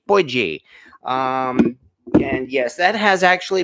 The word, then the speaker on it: potjie: That is a pretty good view here of, again, the way they pronounce it in South Africa, as I found out, they call it potjie or maybe potjie.